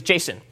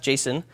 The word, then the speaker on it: JSON: to go over is Jason not JSON officially pronounced Jason and it stands for